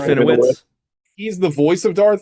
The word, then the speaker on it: Serafinowicz: I do think it's funny though that Peter Serafinovich, is that how I said? Did I say his name right? Serafinowicz.